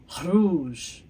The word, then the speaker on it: rouge: Rouge. Rouge. Do they sound different? No. There we go. When you say red in French, both masculine and feminine, it sounds exactly the same.